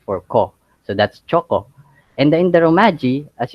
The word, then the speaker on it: choco: It is divided into two syllables. We have the cho and the ko. So here in the Philippines, we for us the letter C would always sound as k.